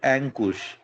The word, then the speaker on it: Ankush: Correct pronunciation for द अंकुश will be एंकुश.